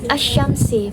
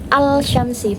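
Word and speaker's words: الشمس: Nah, alif lam itu tidak dianggap, jadinya Asy-Syamsi, bukan Al-Syamsi, bukan.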